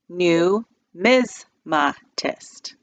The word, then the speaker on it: numismatists: can't even say it break the word into four syllables mr. basky said new MS ma kissed Josh repeated new ms